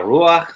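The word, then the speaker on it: רוּחַ: But isn't it strange that the patach, or that vowel that looks like a dash under the chet, is pronounced before the chet instead of after it.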